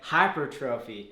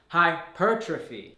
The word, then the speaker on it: hypertrophy: said great videos but put the emphasis on the second syllable for hypertrophy I in the video I was saying hypertrophy mirror brother are both